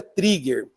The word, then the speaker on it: trigger: Escreve eh trigger, mas se pronuncia trigger.